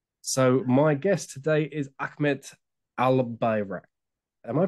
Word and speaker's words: Ahmet Albayrak: called sales Fellowship so my guest today is Ahmed al-birak am I pronouncing your name correctly yeah yeah correct brilliant